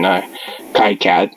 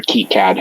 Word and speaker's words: KiCad: But I designed it myself in KiCad or KiCad, however you want to pronounce it.